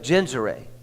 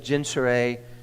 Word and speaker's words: Gennesaret: God, that he stood by the lake of Gennesaret. I had to look that up to see how to pronounce that.